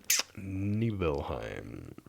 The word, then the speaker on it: Nibelheim: get to nibble neheim neheim I believe that pronounced Nibelheim you get you get to nihem and it's